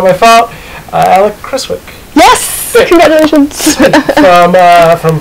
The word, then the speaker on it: Creswick: I didn't ask you to do the proper pronunciation of your last name, so if I butcher it, it's not my fault. Uh Chriswick.